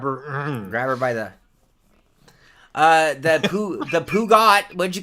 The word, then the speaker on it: Peugeot: Grab her by the Peugeot.